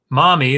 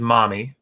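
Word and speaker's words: Mami: of the Gods wise mommy which is spelled ma mi I guess we could say mammy but we could not will you be the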